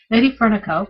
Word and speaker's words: LadyFernaco: No, Lady Fernico. You do know how to pronounce it.